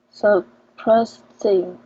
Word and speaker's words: surprisingly: You will not pronounce it as surprising, but zing, Zing, zing.